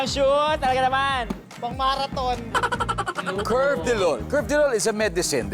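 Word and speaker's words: carvedilol: alaga ganda ganda ng shoot talaga naman pangmarathon curve deol curve deol is a medicine ba you're a pharmacist p actually it is pronounced as curvedilol curvedilol yes for everyone's din pong um Um information it's Cvedol.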